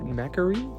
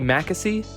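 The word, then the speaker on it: Mackesy: the horse by charlie macarene charlie mackassy i think is how you say it that's an ass not an r got it so i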